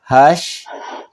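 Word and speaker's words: هشت: تو ہش، اس کا بھی تے پر آ کر ہش.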